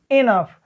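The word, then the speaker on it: enough: यहां देखिए लिखा है जैसे RAU, देखिए ROU, यहाँ O है फिर यहाँ U है, OU के बाद आया है GH, तब हम इसका उच्चारण किससे करेंगे फ से, तो ये हो जाता है रफ, ये हो जाता है स्लफ।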